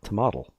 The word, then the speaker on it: tomatl: And it was originally an Aztec word, nahuatl, and it was tomatl. Ooh. So T it's an O T O M A not T a L. A. It's an A. Tomatl.